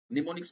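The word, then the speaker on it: mnemonics: उसका जो वो है स्पेलिंग है वो एम एम से शुरू होता है एम एन ई एम ओ एन आई सी एस तो एम साइलेंट है निमोनिक्स कहते है उसको तो ये जो आपका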